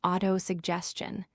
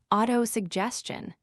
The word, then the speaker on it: autosuggestion: Our first word is auto suggestion. Listen carefully. Auto suggestion. The stress is on the third part. Auto suggestion.